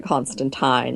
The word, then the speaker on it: Constantine: with constant I know you're supposed to pronounce it Constantine like the time of a fork but you know what